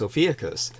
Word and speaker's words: Ophiuchus: I do want people to know that the way I pronounce the constellation, which Amy is speaking of, is Ophiuchus. But I think the way she pronounces it is fine.